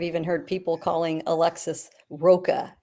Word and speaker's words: Rocha: I'm hearing people mispronounce his name, and actually I've even heard people calling Alexis Rocha. It's like, Rocha? Like rhymes with mocha? No, for God's sakes, man.